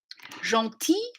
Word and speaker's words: gentil: Gentil, that N is a nasalized vowel and the L is a little bit soft at the end.